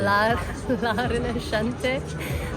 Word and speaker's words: La Rinascente: La Rinascente.